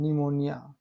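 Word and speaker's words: pneumonia: आया है, देखिए शाम, पी के बाद एन आया है, निमोनिया।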